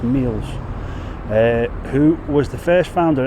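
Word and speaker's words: Meols: DW Sutton of North Mills apparently it's not pronounced Mel's it's pronounced meals who was the first founder of executed for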